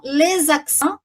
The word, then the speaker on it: les accents: Olha a liaison, les accents, tá? Les accents.